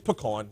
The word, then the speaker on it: pecan: It's pecan.